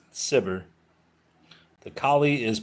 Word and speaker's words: Cibber: Cibber, I'm going to look this up because I think it's Kibber. What's his name? Collie Kibber? Collie Cibber.